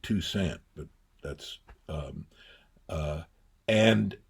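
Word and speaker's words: Toussaint: Tusant tusaint he pronounced it two cent but that's um uh and so I moved there.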